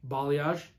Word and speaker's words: balayage: you pronounce it um is it how you pronounce it balayage balayage that's how you pronounce it so with doing